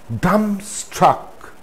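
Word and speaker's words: dumbstruck: plumber plumber not plumber dumb struck dumb struck no there shouldn't be any bar sound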